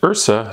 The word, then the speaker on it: IHRSA: It is pronounced IHRSA, no need to spell it out. What's up, IHRSA?